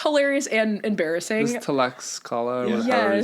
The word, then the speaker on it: Tlaxcala: We actually had to ask locals because I need to know how to pronounce the city before I go there. I feel like it's just respectful. And that's how you say it?